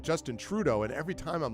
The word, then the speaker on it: Trudeau: They always pronounce the first syllable, emphasis on the first syllable of his last name.